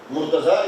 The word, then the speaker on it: Murtaza: Murtaza is how we pronounce in Urdu, Punjabi.